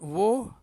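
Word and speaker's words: وہ: Ataupun woh, usne. Kalau ramai dipanggil unhone, mereka. Okay, pronunciation dia woh. Dia sebenarnya waw dengan ha, woh. Woh. Waw dengan ha. Tapi mereka sebut ha tak berapa kuat, woh.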